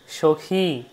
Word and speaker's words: সখী: যেমন যদি বলি মতি সখী সখী হল এবার যদি নদী বলি নদী দীর্ঘ হয়ে গেল সখী সখী হচ্ছে রস আর নদী হচ্ছে দীর্ঘ নদী উচ্চারণ যত সুন্দর করবেন তত আপনার শ্লোক উচ্চারণ যথাসাধ্য সুন্দর হবে।